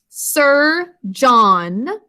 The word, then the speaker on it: surgeon: so the word surgeon sound out with me sir john two syllables first syllable is s er and we're